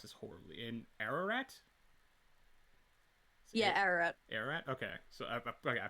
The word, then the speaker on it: Ararat: Yeah, Ararat. Ararat. Okay, so okay, I pronounced it right.